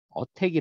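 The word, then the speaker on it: ATT&CK: 마이터 라고 있는데요 이것을 얘는 어떻게 읽느냐 어택이 라고 읽어요 attn ck 길을 어택이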